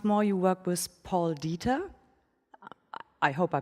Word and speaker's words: Dieter: So once more, you work with Paul Dieter. I hope I pronounced that right. It sounds so German. Dieter, oh, yeah. I would imagine you would pronounce that right. It's Dieter.